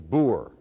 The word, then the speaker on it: boer: the word for farmer in dutch is boor which is related of course to the english word boor they spell a b-o-e-r we spell it b-o-r people in the city